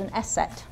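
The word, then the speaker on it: ß: i am called now this looks like a funny b symbol and it's actually not it's two s's it's called an set and it sounds like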